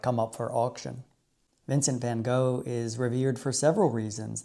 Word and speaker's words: van Gogh: least in my opinion number one is Vincent Van go I know I know I hope you can Overlook my persist American accent when pronouncing his name it should be said more